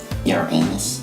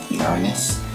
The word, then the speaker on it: Uranus: go toles hi some people pronounce my name yanus but it's actually pronounced Uranus um uh I'm the